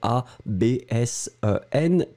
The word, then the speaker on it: absenter: If you listen, most of the cases, people will pronounce like if it was a P and not a B.